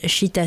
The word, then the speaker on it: Chītā: internet son site internet c'est cheetah studio points comme cheetah ça s'écrit ch itea studio points comme vous